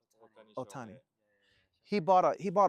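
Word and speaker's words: Ohtani: Otani.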